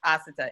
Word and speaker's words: Asata: It's Asata. Emphasis on the first A.